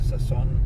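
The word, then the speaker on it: Sousón: Souson with an accent on the second O, Souson.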